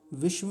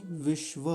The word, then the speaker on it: विश्व: विश्व नहीं विश्व, क्योंकि व पूरा है। यहाँ देखिए विश्व ऐसा बोलेंगे।